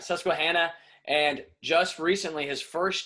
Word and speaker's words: Susquehanna: say it because i might say it wrong susquehanna yes sir that's he hit it right on the nose let's go all right susquehanna and just recently his first year as a